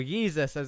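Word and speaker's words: Jesús: Stephen King now all over the back of Jesus Amundere, or Jesus as we've been spelling it in chat, of course, that's how it's correctly pronounced.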